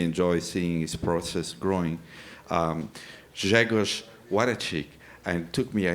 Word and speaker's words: Grzegorz Wlodarczyk: Please welcome Grzegorz Wlodarczyk. Thank you, Marco, for your introduction. Excellent pronunciation of my name.